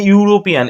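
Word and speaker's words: European: তার পূর্বে এ বসে দেখো এ ইউ এ ইউরোপিয়ান A uniform a university এই ইউ মেটাল ইউ এর উচ্চারণ কিন্তু ইউ এর মতই হচ্ছে দেখো ইউনিফর্ম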